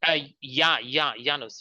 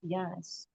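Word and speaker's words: Janus: It's J, but it's pronounced like a Y. Correct. Yanos.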